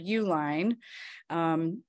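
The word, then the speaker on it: Uihlein: out-of-state billionaire named Richard Uline and if you use Uline company just know that it's the same guy even though his last name is spelled a little differently than the company for office supplies but Richard Uline funneled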